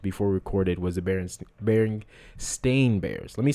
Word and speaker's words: Berenstain: I like when I first found out that it was the Berenstain Bears, not the Berenstain or Berenstein. I think it's Berenstein is how most people thought it was. The last part's Stein.